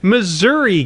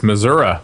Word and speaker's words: Missouri: that big M okay Missouri gets only one you're saying it wrong it's Missoura Missour Nevada gives has one